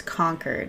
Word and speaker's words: Concord: the guy in the video I'm like it's conquer it's not Concord Concord New Hampshire yeah Concord